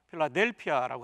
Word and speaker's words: 필라델피아: 그런데 헬라어 그대로 읽으면 필라델피아라고 발음하게 됩니다.